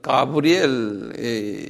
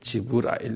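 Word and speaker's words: جبريل: 가브리엘라 그는데 이분들이 읽을 때는 가브리엘 아닌 거예요. 내가 원숙게 지부 지부라일 그래 라일 지브라일 g브라엘 지브라엘 한 발음 해 볼래요?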